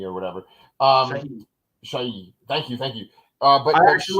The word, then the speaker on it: Shahi: So played by Sarah Sahai or whatever. Shahi.